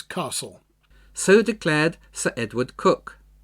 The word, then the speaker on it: Coke: so declared sir Edward cook spelled Coke c-o-k-e but pronounced cook chief justice to James